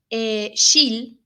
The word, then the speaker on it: Scheele: Bueno, todo comenzó en 1776, donde un farmacéutico que se llamaba Carl Wilhelm Scheele, acuérdense de esta palabra, Scheele, o se pronuncia Schele, pero creo que se pronuncia Scheele, o Scheele, realizó experimentos con unos compuestos de arsénico que eran solubles, ¿verdad?